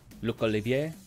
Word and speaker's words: Olivier: I just kind of pronounced it French. Luke. Luke Olivier, if you were Luke Oliver.